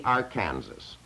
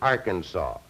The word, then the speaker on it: Arkansas: down to the mouth of the Aransas or beg your pardon I should say the Arkansas there's quite a bit of discussion uh as you know as to how that river is to be pronounced uh the how that name is to be pronounced number the Colorado call it the Aransas by the time it hits the boundaries of the state of Arkansas by law it becomes known as the uh the Arkansas at any rate they